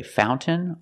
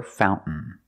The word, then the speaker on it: fountain: we celebrate fountain fountain you can say fountain or fountain both are fine and then I swim